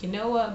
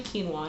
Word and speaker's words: quinoa: stuff is that couscous is it pronounced quinoa but it's actually quinoa and it's a cross